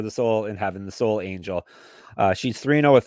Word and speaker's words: Solange: say her first name it's da da s Angel it really is soul Angel that's very American how you said that yeah I'm pretty